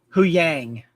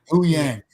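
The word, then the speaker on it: Huyang: How do you pronounce his name? Hu Yang. Hu Yang.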